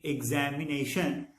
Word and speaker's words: examination: Like in examination, there are 5 syllables, but the letter X, EXAMINATION, X represents 2 sounds, G and Z. Ig is the first syllable, examination.